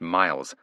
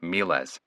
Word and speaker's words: miles: The first word isn't pronounced Miles, it's pronounced Miles.